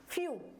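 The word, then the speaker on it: few: एफ ई डब् तो इसको हम क्या पढ़ेंगे फ्यू क्या पढ़ेंगे फ्यू तो इसको भी हमने यू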